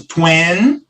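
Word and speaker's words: twenty: Então, a gente começa 20, e o finalzinho é bem suave, 20.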